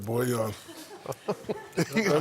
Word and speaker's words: Bojan: Got it, Boyan.